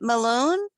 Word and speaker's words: Malone: okay great well welcome is it malone how you say it that's my last name oh okay sorry what's